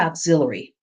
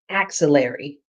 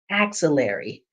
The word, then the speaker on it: axillary: for people to pronounce it's not auxiliary it's axillary so I want you to say it with me axillary and it's pointing towards